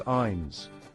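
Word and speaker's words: eins: The number one isin. It sounds a lot like the English word ice, but with an N sound in the middle. Think of I end.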